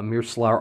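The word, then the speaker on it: Meerclar: man or ma'an a mirsular all mother i know it says mir clark they mentioned that the c's are pronounced like s's uh it has this very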